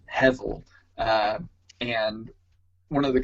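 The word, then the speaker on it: hebel: um spelled h-e-b-e-l but that b is pronounced with a v as in victor uh so it's heavel uh and one of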